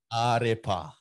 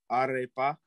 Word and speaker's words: Ārepa: I actually want to see, can you pronounce that, bro? That's a Maori word. You said Arepa? Arepa. Arepa.